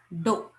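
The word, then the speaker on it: ∂: This symbol is pronounced as dou.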